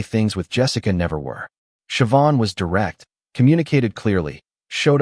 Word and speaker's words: Siobhan: Her name was Siobhan, pronounced Shuh-von, which took me a week to get right.